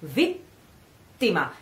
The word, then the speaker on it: vittima: Suspense, and then before starting the following vowel, you have to pronounce the T, the double that you are suspending. So vittima. You put the tongue on the palate as if you were pronouncing the T, and you stay there, vittima, and in the end you say it.